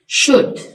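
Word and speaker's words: should: silent है इसमें दुंबा शुड इसमें एल साइलेंट है इसी तरह कुड में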